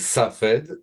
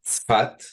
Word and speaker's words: Safed: again the name your hometown my hometown is safed we pronounce it spat okay yes it's a nor a little bit